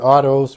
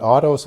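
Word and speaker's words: αὐτός: G 846 which is the word autos or Oto's depending on how you want to pronounce that but autos as we would in English and it's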